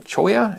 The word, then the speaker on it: cholla: mentioned earlier, as well as Jumping Cholla, or Jumping Choya, if you want to use the Spanish pronunciation, although there's a bit of confusion from country to country about which cactus does the jumping.